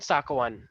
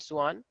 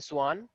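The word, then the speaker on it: Schwann: कुछ लोग इनको बोलते हैं स्केलेडन एंड साकवान, ठीक है, लेकिन एक्चुअली जो प्रॉपर प्रोनाउंसिएशन है वो है स्लीडन एंड सुआन।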